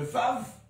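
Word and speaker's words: ו: la dernière lettre, le Vav. Le Vav. Alors cette lettre a une particularité, ça se prononce V. V. Mais V, pourquoi je mets ça? Mais auparavant, ça se prononçait OUE.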